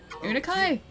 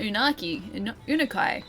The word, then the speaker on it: Unkai: Unkai. Not unakai. Unkai. Tyres.